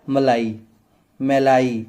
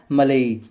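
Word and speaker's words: malayi: वॉचेरिया में भी दो स्पीसीज है, वॉचेरिया बैनक्रॉफ्टी और वॉचेरिया मेलाई, जैसे भी बोलना है, मलाई तो नहीं होगा, जैसे आपको प्रोनाउंसिएट इसको करना है, मेलाई, ठीक है।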